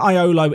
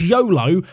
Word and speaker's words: Iolo: in is iolo francis i know that aiolo isn't how you say his name we had a play with this name previously i think last year in part to prem it's a welsh name it's yolo he has gone on